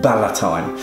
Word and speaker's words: ballotine: are going to be cooking a baiertine of chicken sometimes pronounced bala thyme it is um a